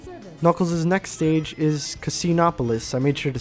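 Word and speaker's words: Casinopolis: Knuckles' next stage is Casinoopolis. I made sure to say it right this time. I in a previous take I said Casinoopolis and I felt really dumb.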